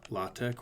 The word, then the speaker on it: LaTeX: that we need to use a program called la tech or latex depending how you pronounce it which is a program that essentially